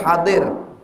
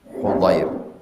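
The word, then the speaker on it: حضير: Dari hadir, salah. Hudair.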